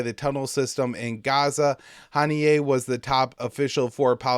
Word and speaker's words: Haniyeh: Haniyeh was Hamas's, or Haniyeh is how you say it.